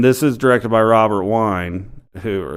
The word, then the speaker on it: Wiene: Yeah, and this is directed by Robert Wine, who, is that how you say his name? Wine? Vina. Wiene. Yeah, Vina.